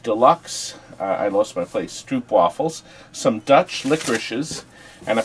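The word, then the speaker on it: stroopwafel: Stroopy waffles. Pronounced Stroop waffle.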